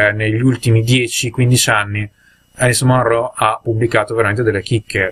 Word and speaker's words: Munro: Quando ha vinto recentemente il premio Nobel, ho potuto ascoltare un'intervista radiofonica a Alice Munro e lei pronuncia Munro, quindi chi cavolo sono io e chiunque altro per sapere meglio della persona che porta un cognome come si pronuncia.